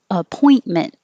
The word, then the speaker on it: appointment: And appointment. I don't say the middle T. I just put my tongue in the in position, appoint.